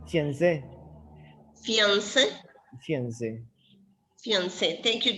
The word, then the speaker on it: fiancé: Oh, yes, just put a stress in the E. Fiancé.